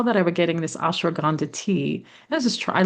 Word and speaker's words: ashwagandha: Like I love ashwagandha.